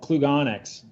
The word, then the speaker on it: Klugonyx: because I solve it I'm quite sure I pronounced that correctly yeah it's called Klug onyx onyx well that's a mouthful Jason yes good